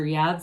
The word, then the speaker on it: Yods: You've got the Yods or Yads of the tarot, either pronunciation acceptable.